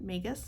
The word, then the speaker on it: magus: don't use that word, but magus I think is how you say it correctly.